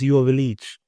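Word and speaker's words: Joveljić: And then at the start of last season, he said, my last name is pronounced Joveljic.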